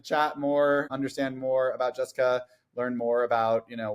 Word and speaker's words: Jessicah: Not, it's still pronounced Jessica, but throwing that out there.